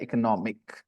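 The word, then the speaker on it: economy: लेकिन यहाँ यहाँ पे ज्यादा होता है इकोनॉमिक, इकोनॉमिक। ठीक है। तो स्ट्रेस चेंज हो जाता है जब आप अगर जानते हो स्ट्रेस के बारे में प्रोनाउंसिएशन में। तो यहाँ सेकंड सिलेबल पे स्ट्रेस है और यहाँ थर्ड सिलेबल पे स्ट्रेस है।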